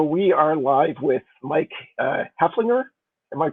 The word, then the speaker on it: Hoefflinger: So we are live with Mike Hefflinger. Am I pronouncing that right, or Hoefflinger? Hofflinger, yeah, no, it's one of those old German names. Ignore the E. Hefflinger.